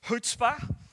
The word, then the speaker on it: Chutzpah: I want to introduce you to a word this morning, and it's pronounced Chutzpah, and it's not spelt the way it sounds, and it's a little bit of Yiddish slang, so it's Hebrew slang,